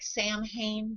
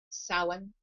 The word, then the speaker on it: Samhain: It looks like Samhain, but it's actually pronounced Samhain.